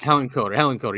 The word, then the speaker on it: Hillenkotter: But so basically what Richard's saying here is that there was such a campaign against Kehoe and Hillenkotter, is that how you say his name? Hillenkotter, I think. Hillenkotter, yes.